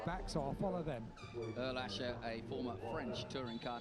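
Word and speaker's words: Ehrlacher: Erlaché, that's the right pronunciation. Oh, he pronounced it beautifully. I asked him, and he said Jan Erlaché.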